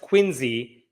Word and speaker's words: Quincy: This story involves the city of Quincy, Massachusetts, which I have been told is pronounced Quincy.